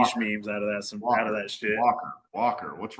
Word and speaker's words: Walker: Walker. What's wrong with that? Walker. I spelled Walker. The L. Who the fuck pronounces the L?